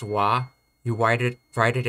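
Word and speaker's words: は: romanji is h a whenever you say this particle you pronounce it as wa you wide it write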